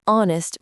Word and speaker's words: honest: He is an honest man. Notice we say an honest man, not a honest man. This is because the word starts with a vowel sound, that o sound.